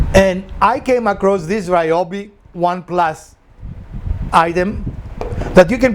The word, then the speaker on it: Ryobi: project so i like ryobi or iob tools i was recently told it was ryobi not ryobi i've called them for a long time ryobi but ryobi is apparently the correct pronunciation let me know in